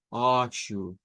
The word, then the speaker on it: roxo: Nótese que esa X es una SH en realidad lo que vamos a utilizar para la pronunciación. Se convierte en shu, shu, oshu, oshu, oshu.